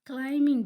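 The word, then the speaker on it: climb: Sana is क्लाइंबिंग the mountain.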